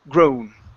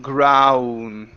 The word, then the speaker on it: grown: okay you add you're you added a vowel in between the W and the N saying grow instead of growing it's grown grown gr okay almost so you're you're opening too wide okay you're saying ground instead of ah o o grown okay same sound as moat okay so you if